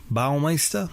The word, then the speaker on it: Baumeister: at least the ball leister's I don't even pronouncing that right Baumeister bow by myself bow-bow all my stuff BAU BAU mei st ER Baumeister yeah from the outside at least the